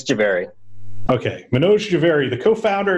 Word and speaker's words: Jhaveri: It's Jhaveri.